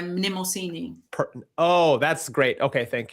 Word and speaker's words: Mnemosyne: Mnemosyne. Mnemosyne. I'm going to try to say... Like mnemonic, so Mnemosyne.